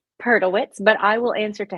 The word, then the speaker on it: Perdelwitz: it's not just you the the correct pronunciation of your last name peritz but I will answer